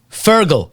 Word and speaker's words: Fergal: connection to television license because my younger brother fergal is a television licensed inspector in Ireland okay let's not just skip over that what's your younger brother's name fergal say it one more time fergal spell it now f e r g a l